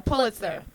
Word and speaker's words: Pulitzer: Pulitzer. Is that how you say it? A Pulitzer.